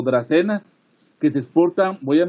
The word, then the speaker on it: dracaenas: Las dracaenas, que se pronuncian como dracenas, que se exportan, voy